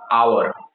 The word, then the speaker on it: hour: Next example लीजिए आवर, HOUR, आवर, इसका भी उच्चारण भले ही लेटर जो है कॉन्सोनेंट है आवर H, बट इसका उच्चारण वॉवेल की तरह हो रहा है, इसलिए यहाँ पे भी एन का प्रयोग होगा।